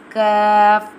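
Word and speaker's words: ك: Kaf pronounced from the root of the tongue touching the hard part of the palate, top of the mouth, like this. Kaf.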